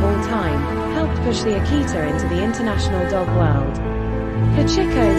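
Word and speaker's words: 秋田犬: The Akita, Chu Tian Kwan Akita Inu, Japanese pronunciation, Akita.in, is a large breed of dog originating from the mountainous regions of northern Japan.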